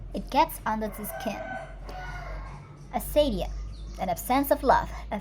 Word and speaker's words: acedia: Asadia. It is spelled Acedia, Asadia.